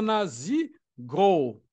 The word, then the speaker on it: Nazgûl: Eles têm o nome de Nazgûl, que na pronúncia é Nazigûl.